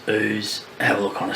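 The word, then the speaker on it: Ouse: through some interesting towns like ooze which I eventually figure out you pronounce ooze have a look on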